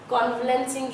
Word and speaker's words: convalescing: और जो word convalescing है, कॉन्वलेंसिंग ये इसकी प्रोनाउंसिएशन है।